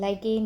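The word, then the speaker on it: lichen: दोनों में को रिलेशन कौन शो करता है, दैट इज़ लाइकेन, जिसको आप बहुत ही ज़्यादा गलत प्रोनाउंस करते हो, लीचिन बोलते हो, लीचिन।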